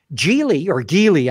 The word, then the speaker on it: Geely: Geely, I guess, as it's properly pronounced, already bought a drone company.